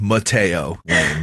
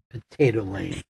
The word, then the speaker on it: Mateo Lane: I'm positive I said Mateo Lane, not Potato Then Lane. last night he says to me, pass me the potato. I'm starving. Potato Lane.